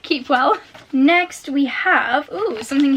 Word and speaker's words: Kipwell: Oh, I've just read this note and it's apparently pronounced Keepwell. So not Kipwell, Keepwell.